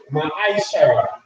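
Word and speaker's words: מעשר: Means stamped in Hebrew and is pronounced Ma'aishara. 10% of every penny of every increase the Lord gives you, give to the treasury department or teacher.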